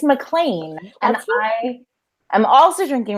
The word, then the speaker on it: MacLean: It's MacLean, and I am also drinking rosé, and I also brought the whole bottle. So yes, let's do it. I'm ready. Yay, this is Sarah MacLean, everybody.